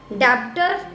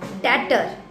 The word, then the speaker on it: debtor: डेप्टर नो डेटर. debtor डेटर नॉट डेप्टर.